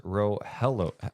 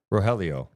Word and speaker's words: Rogelio: It's pronounced Rohello. Wait, I'm sorry. You have to understand the font small too. It is small, right? It's pronounced Rohelio.